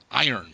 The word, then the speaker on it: iron: the word iron correctly iron okay iron yeah because uh it's spelled i-r-o-n right which makes swedes think it should be pronounced iron which makes sense because